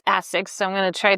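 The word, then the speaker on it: ASICS: I just remember he taught me that it's not AS6, it's Asex.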